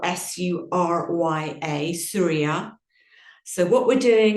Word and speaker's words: Surya: And then on the exhalation, we're going to chant Om Surya Namaha.